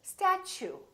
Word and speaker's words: statue: step 2 we say statue statue so the tea you sound like chew so it almost sounds like chew I chew my food